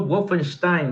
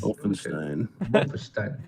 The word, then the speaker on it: Wolfenstein: It's a wolf. It's not wolf. It's Wolf. Wolf. Wolf. And more of a V than a W.